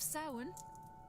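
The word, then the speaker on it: Samhain: Speaking of sin masks, you all have costumes for the ball this evening.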